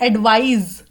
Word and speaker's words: advise: लेकिन जो दूसरा वर्ड है वो है एडवाइज, ज, जिसमें एस आता है ना, इसकी प्रोनाउंसिएशन जेड या जी जाती है. तो इसकी प्रोनाउंसिएशन में यहाँ पे एस को हटा के जी या जेड लगा दो, और यहाँ पे सी मतलब स.